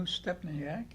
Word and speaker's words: Stepniak: We have, she's brand new, Stepniak. Yes. Did I pronounce it right? Yeah.